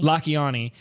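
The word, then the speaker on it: Lakhiani: said I say his name right is it lakhani or la kiani lucky on e la kiani and it's about how to be on f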